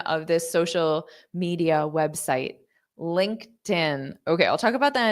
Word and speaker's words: LinkedIn: is I'm going to take that t sound and I'm going to pronounce it on the next l link tin so it's going to sound like tin you're going to hear a very noticeable tin Linkin LinkedIn LinkedIn okay so make sure you